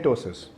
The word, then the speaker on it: ptosis: telling you about टसिस the spelling of टसिस इज पी टी ओ एस आई एस पी a silence टसिस का मतलब क्या